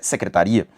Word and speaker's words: secretaria: Porque ele obviamente mostra que uma palavra é secretária e a outra palavra é secretaria, só que a pronúncia foi alterada nesse caso.